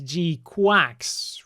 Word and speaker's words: GQuuuuuuX: this is it and if you look at the Japanese it's supposed to be pronounced as G quax which I don't think